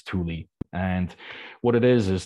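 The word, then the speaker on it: Tule: move to the area the poem is called Tuli fog is in t l e um you might pronounce it CH when you read it but apparently it's Tuli and what it is is this gigantic cloud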